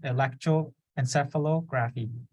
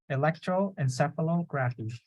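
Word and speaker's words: electroencephalography: yeah electroencephalo graphene see so just break them down so Electro graph e and then encephalo so you put all together Electro encephalography right say that um Electro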